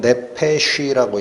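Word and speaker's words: נפש: 여러분 좀 어려운 얘기지만 히브리어로 혼은 네페쉬라고 읽혀요. 네페쉬. 영은 루아흐라고 읽히는데 여기 사용된 단어는 네샤마라는 단어인데 생기 영입니다.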